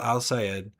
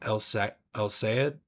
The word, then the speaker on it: El-Sayed: Michigan Senate candidate Abdul Al-Sayed, I always say his name wrong, El-Sayed, has so far refused to condemn the words of Hassan Piker, his friends, and frequent campaign surrogate.